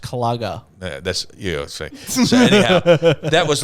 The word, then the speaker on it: Kluger: a when i say a kluger it's a it's a mid-sized up pronounced clogger that's yeah that was